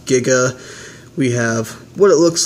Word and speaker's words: Giga: part in the back is Gaga um it's a translation error it is pronounced Giga we have what it